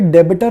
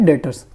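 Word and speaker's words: debtors: याद रखना इसमें बी जो है, बी साइलेंट है, आपको रीडिंग करते हुए डेबिटर नहीं बोलना, बी साइलेंट है, आपने इसको रीड करना है डेटर्स, ठीक है।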